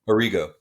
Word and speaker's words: Arrigo: Arrigo.